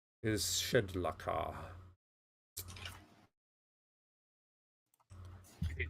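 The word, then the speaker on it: Shedlakah: Jubillex's true name is Shedlaka. You can spell that for me, please.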